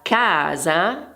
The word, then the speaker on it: casa: Nella parola casa, ad esempio, abbiamo due sillabe. In questo caso l'accento cade su K e quindi la pronuncia in questo caso è più intensa.